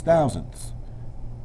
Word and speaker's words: thousandths: have six thousandths and notice i keep pronouncing the ths because if i say hundreds then i'm on the wrong side of the decimal so six thousandths could